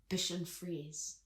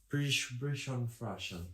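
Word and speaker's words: Bichon Frise: dog is very itchy Bish freeze how do you say it aish f oh there bishon bishon bishon freeze bishon fres so when I was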